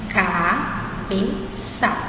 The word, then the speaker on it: cabeça: A gente tem C com A sem cedilha, então nós sabemos que a pronúncia é K, certo? Nós temos o C acompanhado de A de novo, só que esse C agora tem o cedilha, então nós sabemos que aqui nós vamos pronunciar Sá.